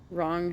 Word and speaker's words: wrong: don't work that way wrong has a silent G I don't know why you do that with certain words where you are trying to pronounce the g at the end um but it comes